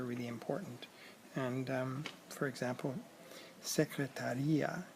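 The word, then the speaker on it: secretária: And for example, secretaria has an accent on the A after the T, which means the person, the secretary, and secretaria, which doesn't have an accent, is said differently.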